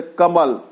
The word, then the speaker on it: कमल: जैसे कमल, कमल को लोग टमल बोलेंगे।